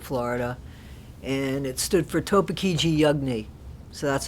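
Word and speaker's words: Topeekeegee Yugnee: And it stood for Topekiji Yugni. So that's how that's pronounced.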